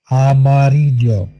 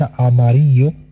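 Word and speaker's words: amarillo: أماريجو، ليس أماريو ولا ليس أماريجو، أماريجو أماريجو.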